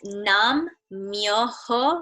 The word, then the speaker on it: Nam myoho: can everyone see that in the chat it's numb myoho renge Kyo nam myoho renge Kyo and you